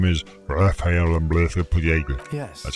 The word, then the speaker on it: Raphael Ambrosius Castillo: My name is Raphael Ambrosius Castillo. Yes. That's how you pronounce it.